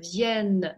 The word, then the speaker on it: viennent: Обратите внимание, произношение единственного и множественного числа. Il vient, носовой. Il vient, звонкий N на конце обязательно произнести нужно.